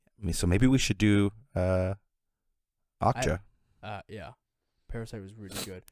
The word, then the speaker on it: Okja: Called it's spelled OKJA, so Okja.